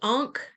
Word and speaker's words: Ankh: Ankh? Is that how you say it? Ankh? Uh-huh. Ankh.